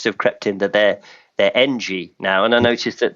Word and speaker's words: Engie: it was always historically Engie, which, EN in French you pronounce on, don't you? But now, over the past year or so, that seems to have crept into their Engie now.